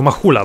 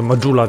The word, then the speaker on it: Majula: Ale no jednak wszyscy bohaterowie mówią Majula, więc zostajemy przy Majuli.